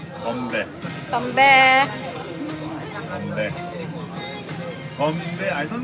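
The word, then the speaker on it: 건배: Konbe. Konbe. Konbe. Konbe. Konbe. I don't know Chinese. Chinese. But Konbe. Korean pronunciation is Konbe.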